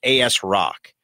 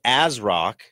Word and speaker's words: ASRock: could be kids listening I'm not gonna say what that phonetically spells but you could say that you might AS rock now they're thinking hard